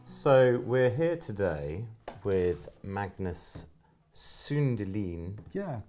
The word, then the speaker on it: Magnus Sundelin: Hey folks, so we're here today with Magnus Sundelin. Yeah, correctly pronounced.